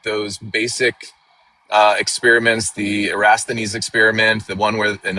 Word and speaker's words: Eratosthenes: If I had a nickel, or even a penny, for every time I heard Eratosthenes is how you say it, but even including all